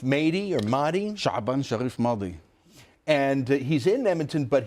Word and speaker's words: Mahdi: How do you pronounce his name? Shaban Sharif Mahdi or Mahdi? Shaban Sharif Mahdi.